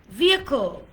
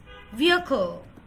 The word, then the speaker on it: vehicle: ইটস নট ভি, 2 ঠোঁট দিয়ে উচ্চারণ করা যাবে না, হবে সো কি হচ্ছে? ভ্যান, VAT, vowel, vehicle, vehicle, vehicle, not vehicle.